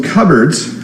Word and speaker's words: cupboards: we have cupboards so cupboards notice it's not pronounced the way it looks in a cupboard uh